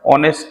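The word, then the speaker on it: honest: जैसे हम ऑनेस्ट की बात करें एन ऑनेस्ट मैन क्योंकि एच से स्टार्ट होने के बाद भी इसका जो साउंड है वो ओ से वोवेल से है।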